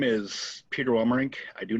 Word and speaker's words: Welmerink: yeah we have peter wilmer rink yeah i did it i did it i didn't butcher the name yep if you do it in three syllables it it's perfect all right sweet so